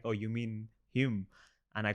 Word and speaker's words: Hulme: I stayed in a hall called Hume Hall in Manchester, and I used to call it Hulme or some initially, and they were like, "Oh, you mean Hume?"